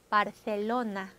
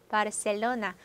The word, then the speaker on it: Barcelona: 먼저 스페인 스타일로 한번 해볼까요? 혀 한번 물고 Cielo, Cielo, Barcelona, Barcelona. 중남미 스타일로 하면 그냥 S 발음 Cielo, Cielo, Barcelona, 바르셀로나. 여러분 발음 어떻게 하셔도 된다는 거죠.